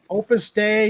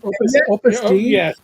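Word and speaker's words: Opus Dei: And Opus Day. Opus Day, I think, is what it's called. Opus Day. Oh, okay. They were prus, but it's pronounced like day.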